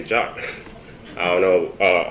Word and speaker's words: JWT: And one thing that I found really interesting is that the formal pronunciation of JWT is JWT. So if you want to explain to your friends about JWT, you can just say JOT.